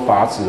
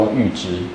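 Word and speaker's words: 阈值: 哈，哦，那这个不是叫做阀值哦，它其实叫阈值，那个字中文字叫念作阈这样子。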